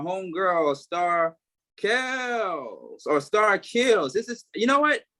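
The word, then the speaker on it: Keels: because the powers spell so it's k-e-e-l-s but it's really kills star kills i didn't think it was chaos myself yeah people keep saying kills and i'm like kill its kills like keys but with the l keep kills kills so like heels rhyme with heels but kills no kill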